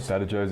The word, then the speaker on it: Badajoz: Badajoz, Spanish. It's Spanish. Oh, I'm in Australia. Well, if I'm in Spain, I'll pronounce it how the Spaniards pronounce it. While I'm in Australia, I'm going to pronounce it how the Australians would pronounce it.